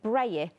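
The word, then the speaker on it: brayer: Is it no coincidence that it rhymes with layer? Is it like layer? Is it different? Yeah, is it spelt like that? B-R-A-Y-E-R? B-R-A-Y-E-R. Yeah, it must be like layer, braille.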